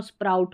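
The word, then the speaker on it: spray: ए वाई को ए तो स्प्रे हो गया।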